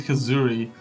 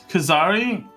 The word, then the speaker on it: Kazari: Oh my god, I keep saying Kazuri. Kazari went to the board chair's office.